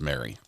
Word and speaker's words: Mari: Pronounced Mary. So close.